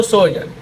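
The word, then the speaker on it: sojourn: सोजन की अगर तो आपको प्रोनाउंसिएशन पढ़नी है तो सोजन।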